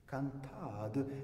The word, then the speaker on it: cantade: y parlerait leur langue, on dirait dorénavant sonade, cantade, ainsi qu'on prononce balade, sérénade, etc.